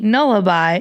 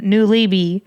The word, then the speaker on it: Nullibi: two, I was calling him the I was pronouncing it all kinds of wrong. It's supposed to be Nullaby, and I was all calling him New Leeby, and tons of other YouTubers that tune in